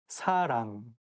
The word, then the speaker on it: 사랑: The same thing, like you have to say 사랑 with a softer S, not 사랑. And make sure that you pronounced 응 sound correctly. 사랑, not 사랑, 사람, or something else.